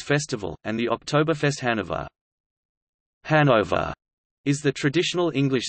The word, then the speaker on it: Hanover: The English pronunciation, with stress on the first syllable, is applied to both the German and English spellings, which is different from